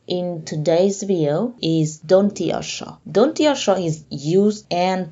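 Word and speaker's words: দন্ত্য স: And the last letter in today's video is Dontiosho. Dontiosho is used and pronounced as an S in science or scene or scenery in English.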